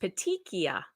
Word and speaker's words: petechia: Joe Pottinger says, Megan, it's pronounced petechia. Okay, thank you for telling me that. Petechia. So that, it looks like it's spelled in the Latin. Well, yeah, why isn't it spelled that way then? With a CH, and I think in Latin a CH is a hard C sound, so that it must be Latin.